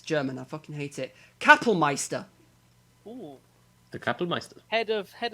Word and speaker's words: Kapellmeister: Well, Gassman died a bit sooner, but after he basically replaced him as the how do I pronounce that? Because it's German. I fucking hate it. Kapellmeister.